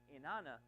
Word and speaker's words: Inanna: She's called Ishtar by the Assyrians, and Inanna, that's that better pronounced, Inanna by the Babylonians.